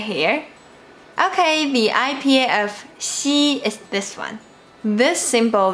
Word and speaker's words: xi: The first things you need to do is put the tip of your tongue down behind the bottom of your teeth and then move the front part of your tongue towards the position pointed out here. More specifically, this position is before the palate and after the alveolar.